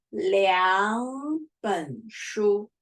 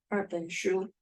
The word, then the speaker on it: 两本书: Here, we don't say 二本书. No, no, no. Before major word, we pronounce 二 to 两. It's the rule. So we say 两本书, not 二本书.